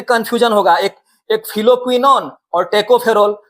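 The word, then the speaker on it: tocopherol: तो इसमें स्पेलिंग में ई नहीं है, शुरू में ओ है, टोकोफेरोल, लेकिन हम लोग याद करने के लिए ई को लाएंगे, ई को हम लोग याद रखेंगे।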